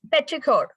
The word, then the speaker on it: petrichor: It's petrichor. Sorry. You can pronounce it as petrichor.